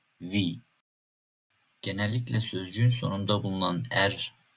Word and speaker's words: Wie: Tam tersi olarak i'den sonra e geliyorsa uzun i şeklinde okuyoruz. Örneğin "Sie, Wie".